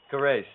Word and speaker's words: Kerrace: But how is that lady's name pronounced? Kerrace or Kerrace? Kerrace.